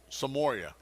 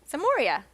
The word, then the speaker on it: Samoria: Samoria. And Actually, I'm not to talk to being his wife. I asked him how to pronounce it, and he said basically like, Samoria. Samoria.